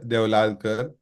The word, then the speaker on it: Deolalkar: But my name is Deolalkar, and I started my journey right out of college.